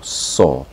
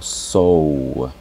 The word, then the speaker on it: saw: Y atención, yo digo saw, no digo sow, no digo sow, porque estaría pronunciando otro patrón. Sería el patrón entonces rose, ¿ya? La pronunciación sería saw solamente.